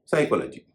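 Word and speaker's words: psychology: पी एस वाई सी एच ओ एल ओ जी वाई साइकोलॉजी एस से पहले पी है और पी का उच्चारण नहीं हो रहा है।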